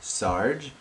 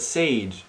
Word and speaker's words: Sage: By the way, my name is not Sarge, my name is not Saga, my name is not. Like, it's a four-letter word. It's really not hard to pronounce, like luau. Luau is a four-letter word, I believe. And that is hard to pronounce. But Sage is as easy as it gets.